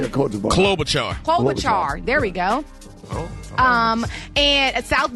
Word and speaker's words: Klobuchar: Yeah, Klobuchar.